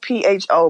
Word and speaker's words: pho: It's spelled PHO, but it's pronounced pho.